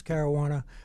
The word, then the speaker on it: Caruana: And Caruana said to me, okay, the name's Caruana, rhymes with marijuana.